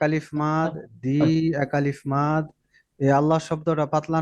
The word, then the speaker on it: আল্লাহ: র আওয়াজটা মোটা আবার আল্লাহ শব্দ পাতলা পাতলা না মোটা মোটা মোটা আল্লাহ শব্দটাও মোটা উচ্চারণ হবে। কারণ আল্লাহ শব্দের লামের আগের হরফে পেশ আছে।